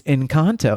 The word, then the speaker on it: Encanto: And it's Encanto.